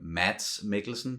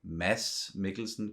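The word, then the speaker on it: Mads Mikkelsen: probably pronounce his name mats make listen but we say mess Mickelson because it's a very soft D myths yeah and we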